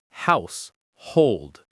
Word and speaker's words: household: The stress in the first word is on the first syllable. Household.